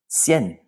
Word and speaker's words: cien: And last, the number 100 in Spanish is cien. Do we have a diphthong here? Yes, we do. That IE makes this a one-syllable word, cien. This is not cien, but cien. That diphthong blends those vowels together.